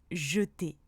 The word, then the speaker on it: jeter: Le E se prononce quand il est dans la première syllabe du mot. Par exemple, dans demain, fenêtre ou encore jeter.